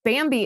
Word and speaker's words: Bambee: The good news is Bambi is here to help small business owners implement good HR practices.